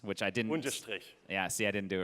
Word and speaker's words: Unterstrich: Also, everybody in the world will have to learn to pronounce Unterschlicht, which I didn't. Unterstrich.